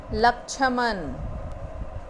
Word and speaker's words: लक्ष्मण: अक्ष मैंने थोड़ा बोला, तो आधा अक्ष, और न का उच्चारण नहीं किया मैंने उच्चारण किया अण का। लक्ष्मण, लक्ष्मण, ये है लक्ष्मण, लक्ष्मण। अक्ष पूरा नहीं बोल रहे, लक्ष्मण।